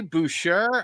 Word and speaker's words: Boucher: Is it Boucher, Isaac? It's Boucher if you're French. Yes. I'm but super French, man. Super French. So yeah. But that is the preferred pronunciation.